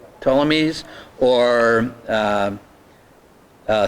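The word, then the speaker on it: Ptolemies: Telmies tamese or um uh selicids salucids.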